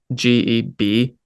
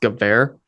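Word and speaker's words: גבר: Another point, the Hebrew word gever, if you're thinking in English transliteration, it's Geber, but it's pronounced gever.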